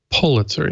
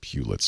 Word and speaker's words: Pulitzer: supposed to pronounce it Pulitzer yeah lots of people say Hewlett is not pew that the Pulitzers never liked it when people said Pew let's right is it is